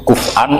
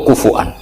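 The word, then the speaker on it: كفؤا: Itu bacanya seperti itu, kuf'an atau kufu'an bil hamzah.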